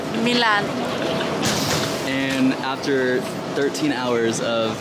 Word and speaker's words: Milan: Say it like Salma Hayek. Milan.